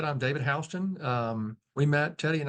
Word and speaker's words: Houston: right hson absolutely yes H spell like Houston pronounced hon yeah all right so yeah I'll just let you take it from here David okay well as Teddy said I'm David hon um we met Teddy and I met at